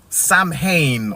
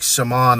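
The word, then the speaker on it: Samhain: they called it uh Sam Hayne or it's pronounced different in the um in the original tongue like Shaman or something like that or I think the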